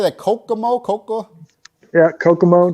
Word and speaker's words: Kokomo: that kokomo koko yeah kokomo just like the beach kokobo kokomo indiana we